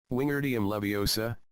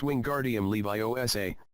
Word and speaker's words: Wingardium Leviosa: Wingardium Leviosa, he shouted, waving his long arms like a windmill. You're saying it wrong, Harry heard Hermione snap. It's Wingardium Leviosa, make the gar nice and long.